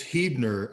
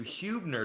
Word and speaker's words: Hebner: perfect time to ask how do you say your last name is it or is it hebner it's hebner i just don't correct anyone anymore okay see that's what i always call you hubner to people yeah i'll